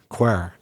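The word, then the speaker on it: quare: But in Northern Ireland, people might say that's like a quir way of making tea. Quir. So we have our own spelling and our own pronunciation.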